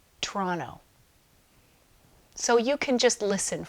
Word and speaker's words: Toronto: Now, when Canadian people say Toronto, it sounds like Toronto.